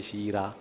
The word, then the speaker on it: Shira: name is actually Shira if you want to pronounce it like like my ancestors properly I'll say Shira I'm from the central